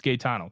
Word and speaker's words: Gano: the the pronunciation oh so I was right it's Gano perfect good one for